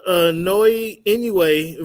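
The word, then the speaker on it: Naoya Inoue: What about Noe Inoue versus David Picasso?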